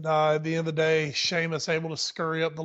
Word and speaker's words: Sheamus: and the Celtic Warrior Sheamus see how I did that for you see how I did that for you well that's how it's actually pronounced so exactly that is actually how it's pronounced um it was a